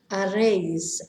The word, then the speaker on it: haréis: Remember, we never pronounce the H. Haréis, harán.